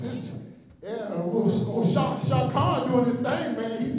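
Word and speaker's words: Shad: And for the record, it is Shaq Khan, not Sean, like y'all been pronouncing.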